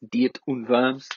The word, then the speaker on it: Diet of Worms: to confirms which is spelled diet of worms I'm well aware but it's German its deity verbs and it is 1521